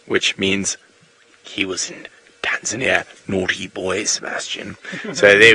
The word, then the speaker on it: Tanzania: language lesson for you there's no such place in the world is Tanzania it does not exist it has never existed it shall never exist the correct pronunciation is tanzania so it is it